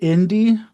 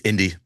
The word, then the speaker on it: Inde: Um, do you pronounce it Indy? It's indie. Navarrette.